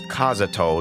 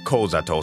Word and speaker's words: Kazuto: Okay, I'm back, and it is confirmed that it is Kazuto, not Kozato, so that is a typo.